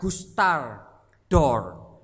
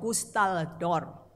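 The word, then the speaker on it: Gustave Doré: santai sejuta tidak sesuai orang Perancis khas tahu cara membacanya website namanya Gustar d'Or sejauh pustal dor dor ini terkenal sekali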